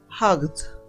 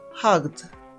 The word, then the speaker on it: hugged: mano en la garganta la pronunciación en pasado será como una d vamos a mirar entonces